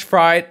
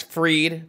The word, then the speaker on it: Fried: name he's got max fried max freed pitching i don't know why i just said fried maybe because it's spelled fried but he's got max